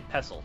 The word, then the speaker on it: pestle: And you don't pronounce the T at all, I believe. I believe you just say pestle.